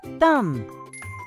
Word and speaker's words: thumb: silent b words the b in both of these words is silent we do not pronounce it thumb climb the last